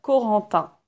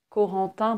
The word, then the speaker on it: Corentin: Ce n'est pas un adulte, c'est un petit garçon et il s'appelle Corentin. Corentin, ça s'écrit C-O-R-E.